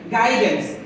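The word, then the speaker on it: guidance: ইউ এর পরে আই ভাউ রয়েছে ইউর উচ্চারণ সাইলেন্ট থাকবে গিটার গিটার অর্থ গিটার পরের শব্দটি এখানে দেখতে পাচ্ছেন গাইডেন্স জি ইউ আই ডি এ এন সি ই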